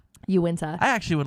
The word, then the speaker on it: Uinta: away from them the unitard the Unita mountains as somebody would say that's not that's not how you pronounce it Uinta I actually would like